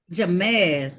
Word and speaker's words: Jamez: Miss Wells, is it Jamaz? Not terrible. He's a young man. It's How you Jamez. pronouncing that? Jamez. Ah, thank you. Now calling the matter. Oh, like James with a Z.